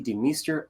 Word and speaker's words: DeMeester: joined by authors christy de meester i probably should ask is that the per the pronunciation for your last name beautiful you did it perfectly because i know in